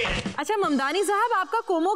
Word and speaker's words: Mamdani: The name is Mamdani. M-A-M-D-A-N-I. You should learn how to say it. अच्छा ममदानी साहब, आपका कोमो के साथ अब कैसा रिश्ता है?